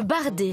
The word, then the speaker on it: bardé: Le bardé, pas le barré Thierry.